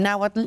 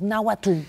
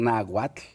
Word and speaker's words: náhuatl: Está mal porque lo estás pronunciando en español. Claro. Entonces yo siempre decía, para la gente que nos escucha, cuando digan náhuatl, pongan arriba de la T, arriba una L chiquitita. E imagínense el sonido de una L chiquita